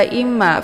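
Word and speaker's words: إما: Kemudian fa imma, fa dibaca pendek, imma di sini ada mim yang bertasydid. Ini dinamakan dengan ghunnah musyaddadah. Cara bacanya didengungkan. Imma, imma. Jadi i-nya ditekan kemudian ditahan 2 harokat sambil dileburkan suara ke dalam huruf ma.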